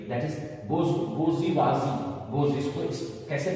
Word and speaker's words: bourgeoisie: Number 3 में है number 3 that is बोर्जुइजी. बोज, इसको कैसे प्रोनाउंस करेंगे?